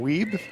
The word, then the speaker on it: Wiebe: Thanks to the folks from Manitoba that have pointed out that I have been mispronouncing Ryan's name, so it's Ryan Wiebe.